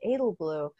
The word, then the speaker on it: Edelblut: about your own frank edelblut and i didn't know that's how you pronounce his name i didn't realize the t was silent i i've learned that